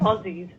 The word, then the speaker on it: Aussie: crosses yeah and so we pronounce it as zed though so aussies so basically so i